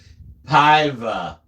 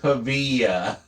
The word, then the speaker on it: Paiva: More importantly, my name is pronounced Paiva, not Pavia.